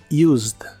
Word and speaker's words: used: en inglés es Used la e tampoco se pronuncia solo la d del final Used Used y usaremos el